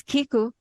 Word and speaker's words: Kiku: Again, the book is Kiku, the Japanese art of good listening. And Kiku is spelled like it sound, Ki Ku.